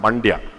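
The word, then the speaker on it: Mandya: use this example because it rhymes with India but it's also close to Bangalore there's a district in in in Karnataka called mandia I'm sure all of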